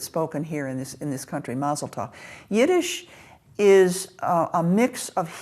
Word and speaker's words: Mazel Tov: I am pronouncing it Mazel Tov because that's the way I was taught. It's Yiddish. It's Yiddish.